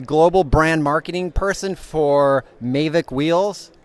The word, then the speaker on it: Mavic: brand marketing person for mavic wheels or is it mavik mavik mavic mavik if you're French yeah you pick so I've been saying